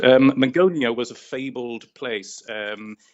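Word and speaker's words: Magonia: And if we were to go back to the Meonia, is that how it's pronounced? That's right. Um, Megonia was a fabled place um in in French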